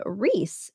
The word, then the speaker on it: Rhys: Okay, I'm really glad you know how to pronounce her son's name because it's spelled Rhys, and I literally had no idea how to pronounce it.